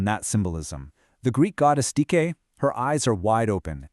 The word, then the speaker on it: Dike: On the left, you've got the Greek Dike, that's pronounced Dike, and on the right, the Roman Justitia, or Justitia.